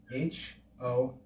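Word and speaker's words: ὥρα: The aspiration mark is like adding an H before that letter. Hora. And the accent, the acute accent, tells us to raise the pitch on the first syllable.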